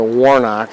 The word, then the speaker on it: Woronoc: the Woronoc people lived, or the Woronoc as I like to say, because all over southern New England, native people's names end on a K or a hard C. Nipmuc, Pocumtuck, Norwatuck, they're not a tuck, I mean hard C.